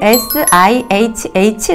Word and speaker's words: SIHH: 오트 오늘로 지라고 말씀드렸잖아요 그래서 hp 는 그냥 알파벳으로 sihh 라고 발음 하시면 됩니다 사실 제가 이 영상을